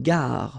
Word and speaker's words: gare: Okay, remember when you get this G and A together, the sound is gig, ga, ga. Une gare, final E not pronounced.